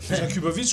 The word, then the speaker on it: Jakubowicz: Jakubovic, comme ça se prononce. Comme ça s'éternue aussi.